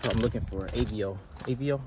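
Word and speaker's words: Aveo: AVO, I pronounced it right, A-V-E-O.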